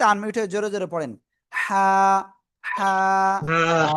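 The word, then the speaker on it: ح: শুরু না, গলার মধ্যখান থেকে এই অক্ষরটা উচ্চারণ হবে। গলাটা চেপে হালকা মুখ দিয়ে বাতাস বের করে উচ্চারণ করতে হবে।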